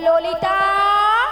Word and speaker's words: ললিতা: হবে জানো হ্যা আর তুমি ঠিকঠাক উচ্চারণ করো বল ললিতা ললিতা ললিতা লাইনে এসে